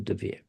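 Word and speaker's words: de Vere: is, as I just said to you, the DeVere. That's how it's pronounced.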